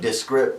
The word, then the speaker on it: Discript: Discript, kind of like descriptive, you know?